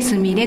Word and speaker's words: スマイル: んですけれどもスマイルと書いてすみれと呼ぶんですけども